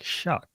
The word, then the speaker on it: Shough: I was talking to my neighbor last night, and she was like, wait, how is it spelled? And I was like, Shuck, Shough. She's like, that doesn't make any sense.